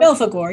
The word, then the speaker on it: Belphegor: Belphegor, yeah.